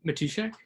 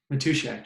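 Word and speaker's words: Matuschak: and andy i i don't know how to pronounce his last name never met him personally matushak matushak yeah yeah i think his work is so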